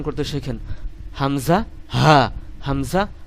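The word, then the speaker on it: همزة: আপনি অক্ষরটি উচ্চারণ করতে শেখেন, হামজা হা, হামজা হা, এরকম উচ্চারণ করতে শেখেন।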